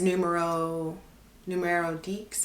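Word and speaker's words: Numéro Dix: Like my Pelen bag that I have, the Half Moon, I think it's numero Deeks, and then that's how you say it, or number 10.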